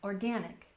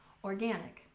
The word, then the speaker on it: organic: And finally, we have organic, with a stress on the second syllable. Organic, organic.